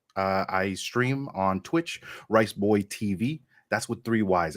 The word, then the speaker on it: Riceboyyy: uh I'm rice uh I stream on Twitch riceboy TV that's with three wise it's actually pronounced rice Boy TV and uh I just